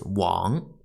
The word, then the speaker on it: 玩: the third character play pronunciation is wa and second tone one the fourth character